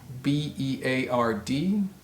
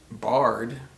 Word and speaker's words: beard: heart the next word b-e-a-r-d is not pronounced barred is pronounced beard beard like a man has a long beard how about h-e-a-r-d is